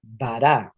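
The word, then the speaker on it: וָרָע: La BAV va a llevar una kametz. Y en este caso, por ejemplo, a ra, ra, que significa mal, va a ser va, vará, va, vará. Entonces, ahí si se dan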